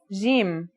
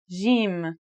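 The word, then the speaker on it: جيم: In standard Arabic and Syrian Arabic, it should sound like the J in the word jam, while in Egyptian Arabic, it sounds like the G in the word game.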